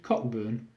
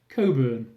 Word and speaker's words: Cockburn: ice rink amusingly named Cockburn probably because that's the most common injury men get when ice skating is your quipped no explained it's pronounced Coburn I wouldn't know I